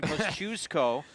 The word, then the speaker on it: Kosciusko: son of so that Thank You Larry comas for giving me this pronunciation Kosciusko with Jose let's kind